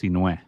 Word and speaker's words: Sinhue: It's pronounced Sinue.